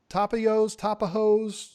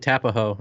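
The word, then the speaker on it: Tapajós: Tapajos? How do you say it, Bob? I say it Tapaho. I know it's wrong, but it makes me smile, so I say Tapaho.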